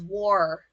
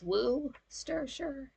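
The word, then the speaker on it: Worcestershire: oh W wooer sure I thought it was war it's woo stir sure yeah pop and never call it soda pop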